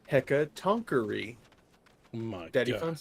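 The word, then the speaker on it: Hecatoncheir: Boyfriend corrected my correction. It's pronounced hecatonkery.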